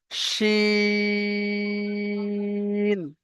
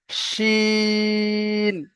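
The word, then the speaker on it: شين: তারপরে এই এই যে রয়েছে এই অক্ষরটা, এর উচ্চারণটা হবে চেপে মোটা উচ্চারণ হবে, যেমন আমরা আহ, হাঁস বলে থাকি, হাঁস।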